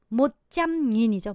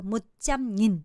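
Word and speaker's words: một trăm nghìn: 자, 요거를 우리나라로는 10만이라 읽지만 베트남어로는 100천이라 읽어낸다고 했어요. 못짬닌이죠. 못짬닌. 그쵸? 자, 그러면 이것 또한 굳이 못짬닌이라고 하지 않고 뒤에를 싸그리 없애고 그냥 100이라고 읽어요. 못짬 이렇게 읽어버려요.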